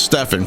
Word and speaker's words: Stefan: And so his name is not Steven and that's a lot of people mispronounce that.